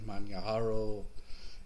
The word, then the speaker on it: Manjaro: year or so ago i mispronounced it and later found out that the j in manyahara is not an american sounding ja sound but this is maniaro0810